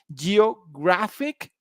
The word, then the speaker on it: geographic: syllable pay attention here for example geographic the penultimate syllable is grah alcoholic you know allergic